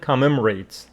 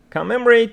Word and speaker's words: commemorate: Bastille Day on July 14th celebrates and commemorates the French Revolution. Commemorate. Commemorate means keep the memory of something or someone alive. Let's see. Long-Man Dictionary says the stress falls on the second syllable and you should pronounce it commemorate.